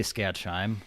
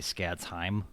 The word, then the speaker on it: Skadsheim: do you pronounce it i say scat shime but i've heard it should be scared time like but i just do like the shine at the end okay because that's how